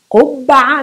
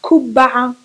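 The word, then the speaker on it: قبعة: Qubba'a, not Kubba'a, not Ku. Ku. There's one dish, a meal that is typical Palestinian. It's called kubbi. Kubbi, that's with a normal Ka. K, Kaf, normal letter Kaf. That's a different letter. That's the same letter but pronounced from the front of the, in the mouth. Ka, ku, kubbi, kubbi, and ku, qubba'a, qubba'a, ku, ku, yeah, ku and ku.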